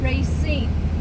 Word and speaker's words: Racine: that do not know how to pronounce my name it is Racine but the dementia and